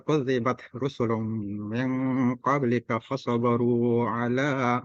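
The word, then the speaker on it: كذبت: Kalau disebut kudzibat, nah, ada angin yang keluar, kudzibat. Nah, kalau diucapkan terus-menerus, kadzabat, tangan ditaruh di depan mulut, kemudian dicoba dicium bau, berarti bacaannya betul. Kan begitulah cara pengucapannya.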